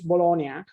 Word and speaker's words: Bologna: And the way of pronouncing Bologna is in Italian Bologna and in English Bologna.